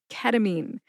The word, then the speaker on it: ketamine: I'm here to tell you today it is ketamine.